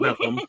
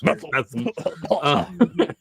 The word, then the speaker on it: Bethlehem: Pennsylvania, which is actually you pronounce it Bethlehem, like you have something stuck in your throat or something. It's Bethlehem.